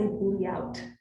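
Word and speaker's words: bliaut: The word for that is a layout. Okay. It's French, which means it's spelled with too many vowels. Tell me when you're ready. Okay. B-L-I-A-U-T. Layout.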